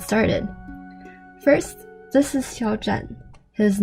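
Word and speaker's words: 战: But in the Chongqing dialect, Zhan is pronounced Zan, so let's just say that his name is Xiao Zan.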